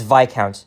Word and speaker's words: Viscount: street name in Toronto that that's pronounced very differently along with stra Avenue Queen's key you get the idea but yeah it's VI count not Viscount Road oh yeah and there's